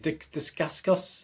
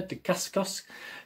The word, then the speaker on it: Dacascos: my other outcomes again i pronounce his name is it dick's disgust uh yeah de kaskos if you're one of